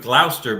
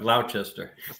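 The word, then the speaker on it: Gloucester: He'd like Duke of Glouster, but not Duke of Glchester.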